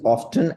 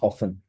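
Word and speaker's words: often: British pronunciation is ऑफ्टन and American pronunciation is ऑफन। तो हम क्योंकि ब्रिटिश कोर्स कर रहे हैं, हम इसको ऑफ्टन पढ़ते हैं।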